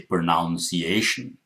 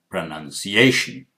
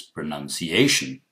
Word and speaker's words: pronunciation: For example, you probably heard that I did not say pronunciation. I said pronunciation. None. That's one of the mistakes many people make. They say pronunciation, which is not correct. The correct pronunciation is pronunciation. Okay?